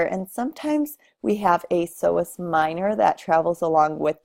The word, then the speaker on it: psoas: off with our iliopsoas the P is silent here and it's made up